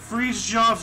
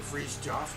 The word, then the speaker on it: Fridtjof: Fridtjof Nansen. I'll take Fridtjof.